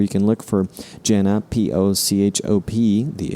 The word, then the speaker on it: Pochop: Jana Pochop, P-O-C-H-O-P, the H is silent, refers to herself as New Mexican and as a nerd.